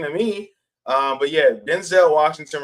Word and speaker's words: Denzel: Um, but yeah, Denzel Washington revealed that his name has been mispronounced throughout his four decade career. His name is actually Denzel.